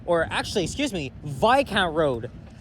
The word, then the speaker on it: Viscount: And this here is Viscount Road, or actually, excuse me, Viscount Road. I actually didn't realize until the last walking video I did here that the S is silent.